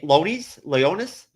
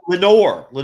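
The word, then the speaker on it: Laenor: Is it Leonis? Who you're referring to? How do you pronounce it? Oh, it's Lenore Valerian.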